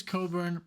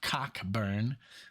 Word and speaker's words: Cockburn: so yeah so okay Bruce Coburn pronounced correctly not cockburn like I said in the first video I'm waiting for a